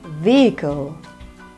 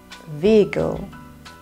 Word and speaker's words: vehicle: okay next one vehicle the H here is a silent sound silent vehicle vehicle next stomach okay not